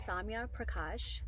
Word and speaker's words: Zambia Prakash: that's a great question my name is Zambia Prakash that's how you pronounce it and I'm 24 years